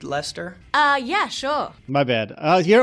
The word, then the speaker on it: Leicester: Leicester. Leicester. Like a creepy dude, Lester?